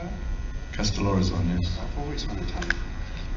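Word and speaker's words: Kastellorizo: So, Castellorizon, do you pronounce it like that? Castellorizon, yes.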